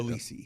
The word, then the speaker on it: Elisi: Elisi.